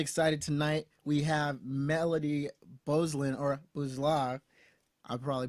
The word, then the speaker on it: Beuzlin: So in French, I mean, it's like 12 letters long, but we only use like 6 of those letters. So it's pronounced Beuzlin.